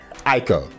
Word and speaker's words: Ico: So right now, I like to present five of my favorite games along with the correct pronunciations of their titles. Number one, Ico.